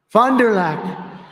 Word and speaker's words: Fond du Lac: Fond du Lac.